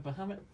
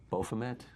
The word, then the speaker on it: Baphomet: Statue of Bahamut? Or I think it's pronounced Baphomet?